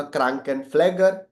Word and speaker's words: Krankenpfleger: Nurse का German में होगा क्रांकेनफ्लेगर. क्रांकेनफ्लेगर. देखो ध्यान से, मैंने बाजू में प्रोनाउंसिएशन इसीलिए लिख के रखे, क्रांकेनफ्लेगर.